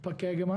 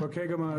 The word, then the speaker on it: Pokegama: I always pronounce this as Pokegama. Am I pronouncing it? Pokegama. Pokegama, yeah.